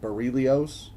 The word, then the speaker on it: Bairille Aois: version of the Boris it's called bilios at least that's how Fred Kar pronounced it on a YouTube video he did talking about